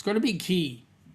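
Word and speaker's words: Cay: It can't be K. It's got to be key. They spell it wrong, but it's pronounced key.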